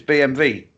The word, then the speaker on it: BMW: excoder see skoda yeah so yeah it's BMV because people always look at me and say oh this goes another BMV well because Germans Pronounce W is a v kept telling me I